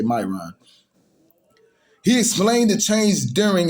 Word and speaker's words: Miron: name to eric myron i believe it's pronounced either myron and me ryan m-i-r-o-n we're going to say myron he explained the change